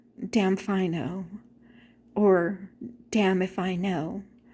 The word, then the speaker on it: Damfino: And if you don't know, you will say, damfino, or damn if I know. So that's basically what it means. It's I don't know, damn if I know. But if you say it quickly, it's damfino.